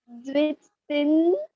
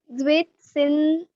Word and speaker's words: Zwischen: है, जेड का full form है, कैन यू प्रोनाउंस दिस? मजा आएगा बोल। Zwitsin very good. TB. हाँ हाँ इट is called Zwischen-Ship। O first ठीक है हाँ. वापस बोल वापस बोल। Zwitsin हाँ स्पेलिंग याद करना है अच्छे से, ठीक है?